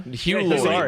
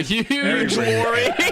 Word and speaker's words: Hugh Laurie: Hugh Laurie, not Huge Laurie.